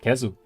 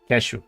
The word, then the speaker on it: Keszu: This was with expert resistance on the side of Kzu. Kashu, sorry. Kashu. I'll try to try to remember the pronunciation there in Polish.